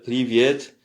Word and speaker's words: привет: Alors, prononciation, salutation et politesse. Donc, bonjour, здравствуйте. Encore une fois, здравствуйте. Salut informel, привет.